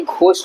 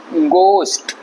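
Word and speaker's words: ghost: ये बोलते होंगे बट ये घोष नहीं है ये ये है गोस्ट जाना वाला गो जो होता है वो वाला गो का इस्तेमाल यहां होगा गोस्ट ठीक गोस्ट उसके बाद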